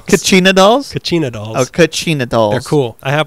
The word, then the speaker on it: Kachina: The basket collection it's pronounced Kachina dolls.